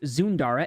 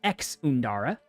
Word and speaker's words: Zunda: this is zunda it's it is definitely pronounced zunda and not like how chat says it which is ex undara pretty annoying but it